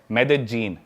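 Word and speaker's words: Medellín: उसकी एक सिटी है मेदजीन। स्पेलिंग में उसमें डबल एल आते हैं। मेदलीन होता है। लेकिन कोलंबन स्पेनिश में ल को ज बोलते हैं।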